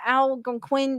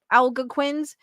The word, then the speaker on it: Algonquin: These missionaries, the Algonquin tribe insisted, had turned into Wendigos and started killing their fellow men.